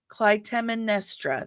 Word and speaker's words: Clytemnestra: Clytemnestra. That's it. Clytemnestra. Greek is so hard. And I love Greek mythology. I do, but it's so hard. Clytemnestra.